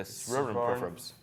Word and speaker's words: Soronprfbs: The Soronprfbs. And do you know how to spell it?